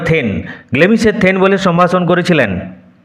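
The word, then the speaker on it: thane: প্রথম ডাইনি তাকে কিভাবে সম্ভাষণ করল দেন অফ গ্লেমস দেন অফ গ্লেমস বলে গ্লেমিসের গ্লেমিসের থেন বলে সরি উচ্চারণ হবে থেন গ্লেমিসের থেন বলে সম্ভাষণ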